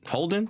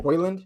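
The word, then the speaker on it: Højlund: How do you pronounce his name? Holden? Holden. Hoyland? I think it's Hoyland, Hoyland. Hoyland. It's like Holland, but with the O.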